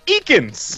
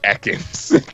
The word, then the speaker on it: Ekans: Oh, it's Ekans! Yep. It's like, wow, how did you get every other Pokemon's name but Ekans? It's just Snake backwards.